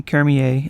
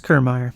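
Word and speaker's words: Kiermaier: meadows renfro and kevin kermier in the outfield you know what i think i pronounced his last name wrong my name is kermeyer sorry dude g-man choi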